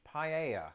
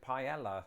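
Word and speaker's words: paella: there probably butchered it a fine example of this would be the Spanish dish paa and notice how I said it there because that's not how I used to pronounce it when I lived in Britain me and most people I knew pronounced it Pella and the first time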